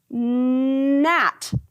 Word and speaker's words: gnat: G-N, we're going to say N, at, gnat.